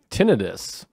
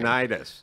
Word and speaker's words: tinnitus: Tinnitus. Which people think it's tinnitus, but there's actually an explanation that it is tinnitus. Because tinnitus, like tendinitis, is like inflammation. There's no inflammation. And it's spelt different.